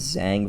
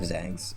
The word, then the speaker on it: Zhang: brother for Jose ferret um his name is Zang verret he is adopted Zhang is spelled z-h-a-n-g he's the older adopted brother that's